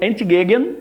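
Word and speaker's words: entgegen: de duas palavras alemãs ué vem de uma palavra alemã que se pronuncia mais ou menos como anti Jean e que significa opostos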